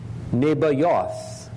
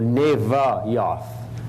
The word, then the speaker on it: Nebajoth: firstborn of Ishmael was nebajoth or naiva yothe it is sometimes spelled with a V instead of a B Victor versus boy and you say well yeah BV BV what am I saying V or be very hard to tell that's why they're interchangeable phonetically because they're phonetic identical